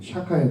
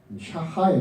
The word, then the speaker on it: 샤하: 원래 발음은 샤하입니다. 샤하에 가깝습니다.